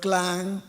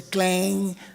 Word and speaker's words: Klang: Yeah, if I do not pronounce your name properly, just like the English people, they cannot pronounce the word klang. They say clang or whatever it is, kluang, kluang. You think the English people can pronounce a Malay word properly?